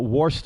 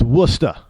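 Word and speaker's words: Worcester: like wora, I mean, if you say, you know, Warester or Warchester, they look at you like you got two heads around here. They get kind of mad at you. It's Wora.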